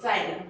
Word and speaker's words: xylem: First हमारा tissue है जाइलम, जाइलम, जाइलम नहीं जाइलम। ठीक है, जाइलम होता है, इसकी स्पेलिंग XYLEM होती है।